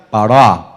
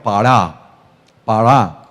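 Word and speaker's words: פָּרַע: la pronunciación real sería pará. Así, si usted va a hablar en hebreo, pará. Es bien cultural porque termina con una letra muy cultural, que es la ayin.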